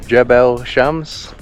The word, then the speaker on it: Jebel Shams: So we have arrived now in Jebel Shams, that's how you pronounce it.